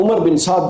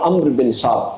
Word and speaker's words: عمر بن سعد: کا لشکر آیا، اور عمر بن سعد جب وہاں پر پہنچا، یا عمرو بن سعد، دونوں تلفظ ہیں اس کے، ہماری امہات الکتب میں بھی دونوں تلفظ موجود ہیں۔ اس نے جب دیکھا